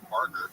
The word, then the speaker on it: Barger: Addison Barger, I said it right, Barger hit the first pitch hit grand slam in